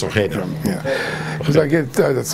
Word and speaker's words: Ojeda: If you want to say it in Spanish, Ojeda. Right, it's Ojeda.